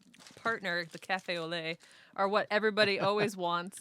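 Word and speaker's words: café au lait: Some kid came in the other day and he ordered a cafe au lait, but he said owlate, and I should have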